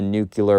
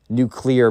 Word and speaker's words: nuclear: And, bro, that's when the history teacher comes in and drops a nuclear bomb. Nuclear bomb. Sorry, I pronounced it wrong. Not nuclear, it's nuclear.